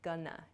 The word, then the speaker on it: gonna: both of these Expressions going to shortens to Gana g o n n a gunana I'm Gana I'm not